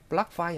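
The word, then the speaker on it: ปลั๊ก: 플러그를 플락이라고 해요. 플락파이 하시면 그래서 그냥 플락만 하셔도 콘센트입니다.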